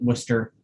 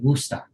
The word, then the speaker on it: Worcester: but we pronounce it worcester and then if you're somebody who truly grew up there you might say wusta so that's how i